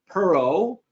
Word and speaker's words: Perro: And I also have two guests today, John Perro from Zuber Lawler.